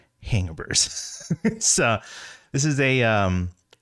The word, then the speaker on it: Hangaburs: and that is you heard that right it's pronounced hangovers uh this is a um a pop-up based